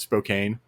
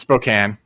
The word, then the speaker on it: Spokane: pronounce Spokane wrong oh okay oh because we pronounce it Spokane are you I was pronouncing Spokane it's not yeah it's Spokane okay we got numerous notes on that one